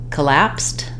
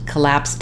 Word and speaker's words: collapse: it down for you in the word collapse our stress is on the second syllable lapse and uh even though